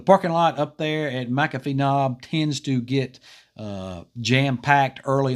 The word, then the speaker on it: McAfee Knob: It's McAfee Knob. There's a parking ride lot there at Interstate 81 at exit 140, and that's where it picks up. The parking lot up there at McAfee Knob tends to get jam-packed early on, and it's